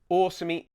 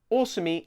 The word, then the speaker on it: Osumi: Osumi. That's a long O at the beginning.